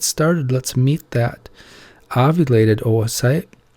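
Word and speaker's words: oocyte: let's meet that ovulated Oh a sight remember it's pronounced Oh a sight you remember that from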